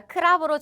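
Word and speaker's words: ครับ: 그리고 남자는 사와디 크럽 이거를 카이 아니라 크랩으로 정확하게 발음해 주시면 돼요 그러면 선생님 왜 태국인들은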